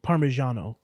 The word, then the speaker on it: parmigiano: english pronunciation but like because the reason people say parmesan is cause in italian it'd be like it's not it wouldn't you said parmesan parmigiano yeah yeah it's spelled with a g yeah yeah yeah but